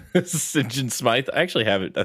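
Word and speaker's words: St. John Smythe: Sing Smith. Sing Smith. Uh, the way the way they would pronounce that killed me every single time. Singen Smite.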